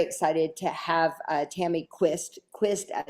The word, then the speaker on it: Quist: Quist, I said, how do you say your name? She's like, Quist as in twist.